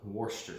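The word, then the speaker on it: Worcestershire: So you're gonna want to get some Worcester sauce, is what they call it, even though it's spelled like you spilled some alphabet soup on the floor, basically.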